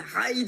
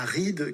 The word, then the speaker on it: ride: donc c'est bien là ça se prononce à l'anglaise et non pas la ride comme les choses qu'on a sur le visage puisque partir faire une